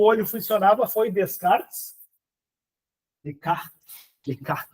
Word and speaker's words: Descartes: o olho funcionava foi Descartes Leart Leart eu acho que fala ele se escreve com s mas não se pronuncia o s então o nome desse